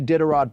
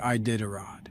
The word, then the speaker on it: Iditarod: I don't see a Diderot propaganda, so I'm going to say a hard no. That's not how you say Iditarod.